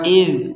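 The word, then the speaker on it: إِذْ: Di sini ada dzal sukun. Masih ingat penjelasan sebelumnya bahwa dzal sukun ini tidak boleh dipantulkan. Jadi jangan kita membacanya wa id. Jadi tidak ada harokat berbunyi di huruf dzal ini.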